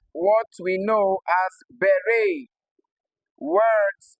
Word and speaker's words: beret: So although they end with e t they do not produce the short e sound like you see here. All right they possess a deep tongue instead. Okay. Because they are of French origin.